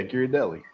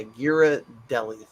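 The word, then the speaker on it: Ghirardelli: mouth by the way I found out how to say it correctly which you are correct Anthony I never said I was I don't know how to say it g Deli yeah gir Deli it's yeah Gira Deli Gerard de that's what I thought it was Gerard deardo Gerard Butler yeah gear a deli there you go I'm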